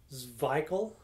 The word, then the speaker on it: Szwickel: So this says here, pronounced Szwickel, yeah.